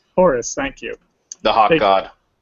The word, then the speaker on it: Horus: of, I don't believe, I've never had to pronounce the name before. Horus? Horus, thank you.